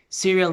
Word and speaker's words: serial: La misma pronunciación, por ejemplo, di conmigo, serial number, número de serie.